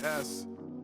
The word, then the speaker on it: Esz: Pronounce it like the letter, don't say it at all.